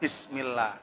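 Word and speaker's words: بِسْمِ اللّٰهِ: Bismillah. Lah kok bis? Nah, bukan bis tapi bis, menggunakan harokat kasro. Bismillah. Ada juga yang salah seperti Bismillah menggunakan shin. Lah itu juga salah.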